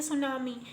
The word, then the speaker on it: tsunami: तो इसमें T silent है, इसको हम पढ़ेंगे सुनामी.